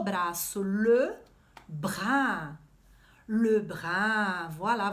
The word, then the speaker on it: bras: O braço, le bras. Le bras. Voilà. Você sabe que em francês a gente geralmente não pronuncia as consoantes finais, né? Le bras.